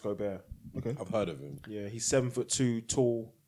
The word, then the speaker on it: Gobert: I watched his new Rudy Gobert pronounced Gobert he's seven foot two